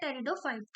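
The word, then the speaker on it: Pteridophyta: सही answer A जाएगा terridofighp यहां पे साइलेंट है तो 26 का जो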